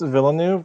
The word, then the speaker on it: Villeneuve: Yeah, Dennis Villeneuve. That's how he pronounces his name Villeneuve.